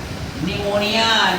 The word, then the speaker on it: pneumonia: वहां पे हमारा पी क्या हो जाएगा? साइलेंट। और लिख दीजिए पी निमोनिया। निमोनिया।